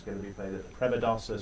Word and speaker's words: Premadasa: to be played at premadasa Stadium I hope I've pronounced that correctly that's right that's the premadasa stadium um we had a